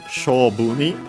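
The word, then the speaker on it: 勝負: Accent on the first syllable, this one.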